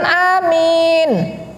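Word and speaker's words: آمين: Yang ketiga, mengucapkan amin setelah surat Al-Fatihah. Bacanya panjang a, panjang min. Amin. Karena kalau salah satu pendek, berubah artinya.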